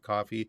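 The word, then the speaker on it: Ko-fi: there's also a k it's spelled Kofi but they pronounce it coffee who am I I'm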